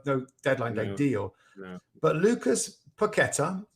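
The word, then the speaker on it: Paquetá: deadline deal but lucas paqueta or piccatar i think is actually the um the correct pronunciation but i'm sure it's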